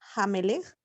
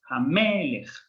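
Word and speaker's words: המלך: En cuanto a pronunciación, entonces incorrecto sería en Hamelech, sería incorrecto decir Hamelech. Exacto, es Hamelech. Porque el artículo le dio ese puntito de fuerza a la mem.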